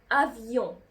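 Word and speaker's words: avion: أ كوم أفيون. أفيون يعني طائرة. خدتوا بالكم أنا نطقت الأو إن اللي في أفيون إزاي؟ أفيون أون. نطقت الأو إن أون.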